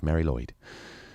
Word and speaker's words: Mari Lwyd: it's this midwinter Welsh tradition called Mary Lloyd and you have to say it like that because it's Welsh Mary Lloyd it's spelled ma r